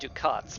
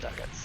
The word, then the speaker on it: ducats: be exchanged for ducats, and it is pronounced ducats. I thought it was pronounced ducats because that sounds fancier. But no, they're pronounced ducats, and I hate it.